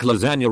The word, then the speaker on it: lasagna: Wayne line Gees move silent like lasagna refers to the silent G and the word not